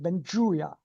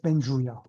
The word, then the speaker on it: Benjuya: de nuevo a Benjoya o no sé si lo pronunció bien. Bienvenido de nuevo. ¿Quién sabe? O sea, mi apellido originalmente es Benjuya. No sé lo que significa, ¿no? Pero es Benjuya.